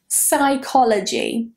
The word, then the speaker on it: psychology: Psychology. Psychology. A lot of students pronounce that PSY as C, and they say psychology.